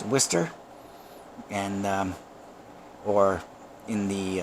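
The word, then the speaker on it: Worcester: know uh to everybody else that looks like warcaster uh but uh it's pronounced whester and um or in the uh Mass vernacular wsta um along the same line is uh conquer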